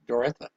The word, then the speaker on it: Doretha: Is that pronounced Doretha or Dorotha? Doretha.